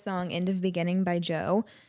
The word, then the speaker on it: Djo: End of Beginning by Joe. I think that's how you say it. It's by Joe Keery, but the band is like DJO, so I assume that it's like a pun, whatever.